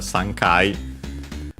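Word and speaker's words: 三回: First and foremost we have a Sankai uh our usual numera pass counter combination. uh three uh pronounced as suns with its Chinese reading of course because kai is uh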